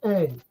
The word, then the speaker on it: Aang: It ain't about how it's spelled. It's how it's pronounced in the show. And in the show, they pronounce it Aang.